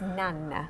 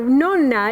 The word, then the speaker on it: Nonna: Well, okay, so Nonna is really the way you pronounce it.